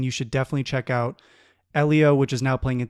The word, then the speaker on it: Elio: I didn't even know that's how you pronounced it. Elio kept saying it. Elio. I was saying Elilio, too.